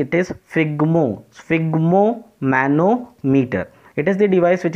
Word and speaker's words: sphygmomanometer: right, to remember this, and you have to pronounce it correctly. It is sphygmomanometer.